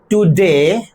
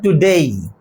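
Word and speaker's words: today: আর একটা উচ্চারণ পাশাপাশি বলি, টুডে, টুডে উচ্চারণটা তা নয়, উচ্চারণটা হচ্ছে টুডেই, উচ্চারণটা এভাবে করতে হবে, টুডেই।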